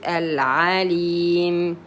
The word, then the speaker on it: العليم: عين فتحة. ع. Lam kasra. Li. Yeah, this is a long vowel. You prolong it 2 periods. Al-alim.